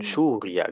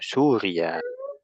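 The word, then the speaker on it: سوريا: Min Suriah gitu bacanya. Suriah. Min. Oh. Min suria. Min suria. H. Suya panjang ra eh apa ya juga panjang. Surya.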